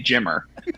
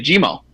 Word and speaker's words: Jimmer: call me GMO because they can't really pronounce the E R, right? So, they can't say Jimmer. So, because of that, they say Jimmo.